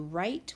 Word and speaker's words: write: Like when you write with your pencil. It has a silent W.